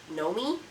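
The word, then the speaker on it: Gnomie: This is in the shade Nomi, G-N-O-M-I-E, Nomi. I think that's how they pronounce it.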